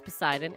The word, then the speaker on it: Poseidon: has said true uh i pronounced it wrong it's poseidon everyone steve says true